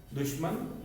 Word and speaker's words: दुश्मन: शब्द आधा है, पूरा श नहीं होता, ये श नहीं है। दुश्मन ये हमारा तीसरा विकल्प ही सही।